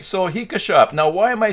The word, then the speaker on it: HikaShop: that's how it's pronounced, HikaShop. Now, if you play Pokemon, like I do, it rhymes with Pika, as in Pikachu. So it is officially HikaShop.